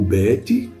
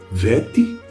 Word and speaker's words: Bet: O Bet pode ser Vet.